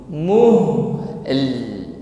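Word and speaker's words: مهل: Muhl. Jadi bukan muh tetapi muhl, dan juga tidak langsung.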